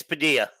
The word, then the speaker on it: Padilla: It's Padilla. It's Padilla. So quesadilla.